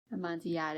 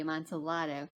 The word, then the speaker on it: Amontillado: Yeah, because the Spanish pronunciation would be the Y. Amontillado, and the Italian would be Amontillado.